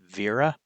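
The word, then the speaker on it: Wera: I move on to the Vera Tool Check Plus. This one is a little bit more expensive. Uh, Vera. Uh, it's spelled W A, but it's German, so it's pronounced Vera.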